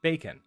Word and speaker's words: BQN: in big questions notation you can pronounce it bacon but advise to avoid